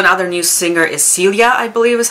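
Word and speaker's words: Silje: their new singer is Celia, I believe is how you say the name. It's almost like Sylvia, but Celia.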